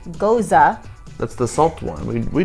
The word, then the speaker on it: Gose: Okay, what I would call a Geuze, G-O-S-E, pronounced Geuze.